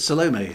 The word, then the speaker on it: Salome: So yeah, how do I pronounce Salome? I pronounce it Salome.